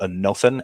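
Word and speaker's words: ἄνωθεν: word that is called a nothing a n o t h e n is how you'd spell it phonetically in english a nothin and that greek word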